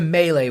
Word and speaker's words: melee: Oh, and by the way, that is the correct way to say melee. If you're one of those kind of say me or melee, then no.